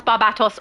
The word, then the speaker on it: Barbatos: See, David knows how to pronounce Barbatos also.